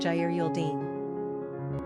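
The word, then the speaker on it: Géraldine: The French Geraldine is pronounced Geraldine.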